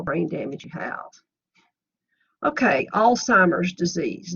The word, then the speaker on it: Alzheimer's: damage you have okay Alzheimer's disease note the lack of a te there's no need whatsoever in arguing with the public they all call it Alzheimer's but that's not the correct pronunciation it's a progressive brain